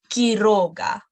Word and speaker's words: Quiroga: No, we're going to pronounce both of them as K. Okay, we're not pronouncing it anyhow. We just pronounce both of them as K. Por ejemplo, Quinto or Quiroga. No, they're both places U is not pronounced anyhow.